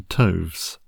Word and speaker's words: toves: how to pronounce slithy Toves the i' in slides is long as in rise and Toves is pronounced so as to rhyme with groves again the first Oh